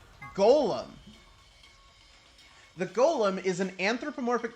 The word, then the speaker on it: GOLM: course is is uh g-o-l-m much to a surprise that ended up being pronounced golem anyway on the side